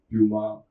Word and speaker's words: Puma: You would have all heard of Puma or Puma. Both pronunciations are fine.